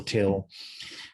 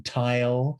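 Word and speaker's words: Tyl: dramatic noel till and a lot of people don't know how to pronounce his name and he would it would drive him crazy if people called him knoll and he'd say noel and then i've heard people call him tile uh and you know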